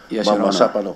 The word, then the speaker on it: Mamasapano: Mamapano. That's the way they pronounce it in Mindanao. Mamasapano.